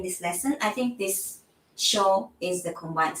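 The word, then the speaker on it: しょ: So to change this pronunciation into the shogo that we always say, you make this yo smaller. And then this is read together. Sho. This change into S-H-O.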